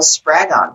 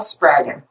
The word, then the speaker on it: Spraggon: to the show spragon did i pronounce your last name properly it rhymes with dragon makes it easy to remember dragon dragon and we discussed many